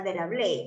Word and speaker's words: Vidal de la Blache: Carlos Ritter y Paul Vidal de la Blache, o sea, de la Blache se pronuncia.